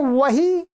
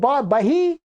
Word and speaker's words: वही: समान वही है, वही, और इसके स्थान में ब बोल देते हैं, ब बोलते ही हैं, तो बही का अर्थ होता है जो जो व्यापारी लोगों का जो बही खाता होता है, बही माने जो हिसाब किताब की पुस्तिका, अर्थ बदल गया, आप कहना तो चाह रहे हैं वही, और आप उच्चारण कर गए बही है, तो आप सामने वाला